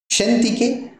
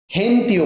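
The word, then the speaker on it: Shen Te: সেন্তি, সেন্তিকে এই সেন্তি, এটা উচ্চারণ সেন্তি করতে পারি, আবার আমরা হেন্তিও বলতে পারি, ছটাকে বাদ দিতে পারি, ঠিক আছে? হেন্তি, সেন্তি বা হেন্তি।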